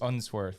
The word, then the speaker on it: Unsworth: a British cave diver Vernon how do you pronounce that last name UNS unsworth unsworth and then the other guy imagine like